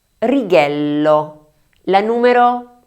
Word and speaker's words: righello: La número 1, ¿cómo la pronuncian? La forma correcta es GIRO, GIRO (vuelta). Número 2: RIGHELLO, RIGHELLO (regla).